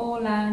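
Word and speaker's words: hola: Và các bạn nhớ là phải viết khi là đọc là ola, nhưng các bạn phải viết có chữ h vào nha.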